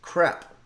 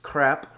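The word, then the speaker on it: crêpes: We're going to be making some wonderfully delicious crepe. I guess in France they don't pronounce the S at the end, so it's not, it doesn't sound like it's plural, but it is.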